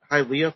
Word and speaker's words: Hialeah: And apparently it's Hialeah. Hialeah. Hialeah. So it's almost like it sounds like it would belong in Hawaii if you think about it.